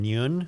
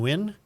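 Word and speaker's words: Nguyen: u y e n Nune what spell it again n g n u y n quinnn Quinn qu Brian win yeah like win win yeah uh um and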